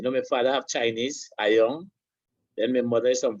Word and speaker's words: Ayoung: Ayoung. Ayoung. You see, like you see, like you are a young person, right?